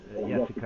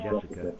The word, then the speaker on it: Jessica: Yes, you would say Jessica in USA, obviously. In Sweden, they pronounce it as if it was spelled with a Y rather than J.